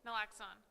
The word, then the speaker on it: naloxone: Naloxone.